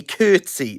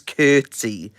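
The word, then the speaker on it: Coetzee: time you have CA they say curtsy they say his name is curtsy CA I don't care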